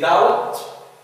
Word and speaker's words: doubt: يبقى D في doubt. Not pronounced.